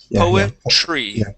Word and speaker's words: poetry: okay all right so think of this T here as a CH poetry poetry poetry there you